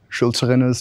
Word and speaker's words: Schulzrinne's: I'm a PhD student at Columbia University under Henning Schulzerinner's tutelage. Oh, good pronunciation.